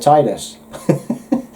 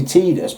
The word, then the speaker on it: Tidus: It's like I've always said Tidus. I was rudely told it was Tidus by just about everyone else. It's like, well, you know, spell it as you're going to say it is my opinion, you know what I mean? It's an I there, so I'm saying Tidus.